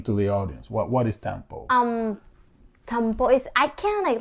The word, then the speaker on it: tampo: So I wanted to know, the subject we have is this word that I'm still trying to learn how to pronounce. Is I think it's Tampo.